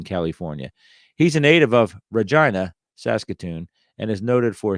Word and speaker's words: Regina: 19771 home Regina Saskatoon if you're saying why are you saying Regina that's how they say it up there I know that because